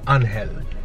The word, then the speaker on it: Angel: hell so it depends okay so in english it's angel right but in spanish it's unhealthy so it really depends like i don't have